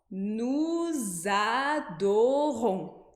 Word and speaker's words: nous adorons: já viu ali atrás, quando a gente emenda uma palavra na outra, né, letras de uma palavra vão ser pronunciadas junto com a outra e formar novas sílabas que a gente não teria se a gente lesse as palavras separadamente. Então, nous adorons.